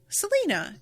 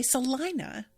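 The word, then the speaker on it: Celina: in Texas they say Salina which is very close to saliva which I [ __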